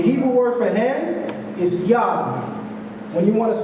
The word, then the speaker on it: yad: When you want to say hand in Hebrew, you say yad. You spell yod, dalet in Hebrew, or if we're speaking English, we would say Y-A-D. But the idea again is, phonetically, it's yad.